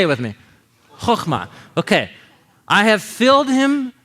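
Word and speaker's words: חכמה: So the KH is the ch letter in Hebrew. Choch, right? Choch, chochma. So why don't you say it with me? Chochma.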